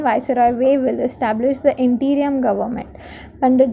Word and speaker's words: Wavell: While the blaze of violence had arisen in the country, Viceroy Wavell is better pronunciation, Viceroy Wavell established the interim government.